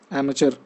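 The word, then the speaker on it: amateur: 8 number question में आपको opposite बताना है, वर्ड है हमारा अमेच्योर, है ना, एमेचर इस तरीके से प्रोनाउंस करते हैं इसको।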